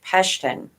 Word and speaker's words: Pashtun: Pashtun. Well, Pashtuyan, but Pashtun, I think, is how you say it in English.